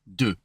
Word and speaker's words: deux: Remember, it's more like a UH for this one. Deux.